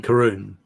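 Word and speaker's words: Karun: um okay my okay very important character um Karin I think guess I can't remember how they said it Karen Karen the driver oh um karon karon there we go I'm like I know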